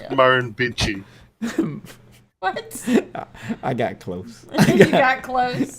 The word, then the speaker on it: Murrumbidgee: Oh, and that word that you were trying to pronounce there is Murrumbidgee.